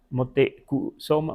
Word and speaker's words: Motecuhzoma: O imaginen si alguien aquí decía, Motecuzoma, más como U, Motecuzoma y otro Moteco, Soma, pues a lo mejor no había tanto problema, ¿verdad?